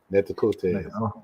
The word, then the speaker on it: Natchitoches: in Caddo country, Caddo Haddacho country, and Natchitoches, Natchitoches country. Netakote. Yeah, I've heard many pronunciations of it.